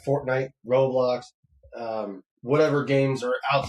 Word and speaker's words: Roblox: I love those roadblocks. You know, I keep saying mispronouncing this. I say road blocks like road blocks. Road block. Yeah. Okay. Ro. Yes. Okay. Roblox.